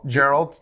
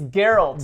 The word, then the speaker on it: Geralt: were got we were scolded for our mispronunciation of Gerald's name c Gerald he said Earl it's girl right or geralt whatever it's something like that it's geralt Gerald of Rivia he's we're